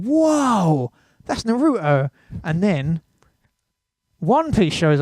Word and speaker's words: Naruto: So Naruto was sitting down, and I was like, oh my god, that's Naruto. And it's actually Naruto, if you're going to use the Japanese pronunciation.